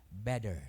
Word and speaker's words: better: Pag dalawang T, D. Better.